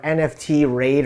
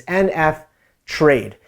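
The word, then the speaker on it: NFTrade: i've played around is called nf trade or nft raid or how you want to pronounce it but it's nf trade and what's really unique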